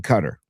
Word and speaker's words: Qatar: I've been saying Cutter. Well, that's the correct pronunciation. Correct. Paulie, the entire broadcast yesterday they're saying Qatar.